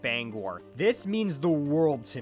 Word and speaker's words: Bangor: I can't express enough how annoying it is every time I hear someone who isn't from Maine say Banger when talking about Bangor.